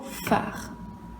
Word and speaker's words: phare: Premier mot, tu vas me faire une phrase avec le mot phare. Le bateau a besoin du phare pour s'éclairer dans le port. Phare, combien de syllabes? 2 syllabes. La première, c'est fa, la deuxième, c'est re.